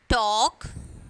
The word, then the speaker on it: talk: Walk, talk. So L is silent here. Palm, cough. So when you are pronouncing this word, L should be silent.